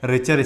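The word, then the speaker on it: Richter: तो हिंदी में तो हम इसको बोलते हैं रिटर, लेकिन अगर इंग्लिश का प्रोनाउंसिएशन देखेंगे तो ये हो जाता है रिचर स्केल।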